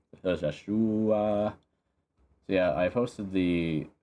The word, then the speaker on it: Joshhhuaaa: It is literally how you pronounce it. I was just kind of trailing off, but actually is how you pronounce it. It's Josh with three H's and three A's. Joshua.